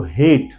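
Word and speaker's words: hate: ई लगा देता हूं, तो आप एक को लेंथ में पढ़िए तो हेट, आई हेट यू, तो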